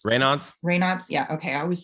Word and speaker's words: Raynaud's: How do you pronounce it? Raynaud's Raynaud's. Raynaud's?